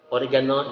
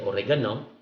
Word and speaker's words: oregano: is the english word the english word is still the same in spelling but there's just a little difference in the pronunciation as a filipino word we say oregano in english we have oregano oregano no oregano next the one thing